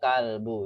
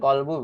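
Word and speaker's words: كلب: Ke kalbu ya, sahih. Kalbu. Bukan kolbu, Bu ya.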